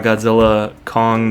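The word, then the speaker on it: Godzilla x Kong: The New Empire: But aside from the Cavs, we got to talk about Godzilla, Kong, the New Empire. You don't pronounce the X, apparently. Apparently that's silent.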